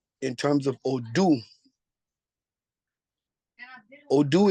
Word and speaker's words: Odu: terms of oh do odoo is spelled o d u o do right it is a word